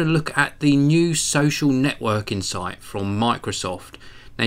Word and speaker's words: So.cl: hi everyone this is from geekanoids and today I'm having a look at the new social networking site from Microsoft now you can find it at all the ws.